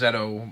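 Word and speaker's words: ZO: Zio instead of, and technically it is pronounced Zeto, much like how Kamen Rider ZX is pronounced Zet Cross.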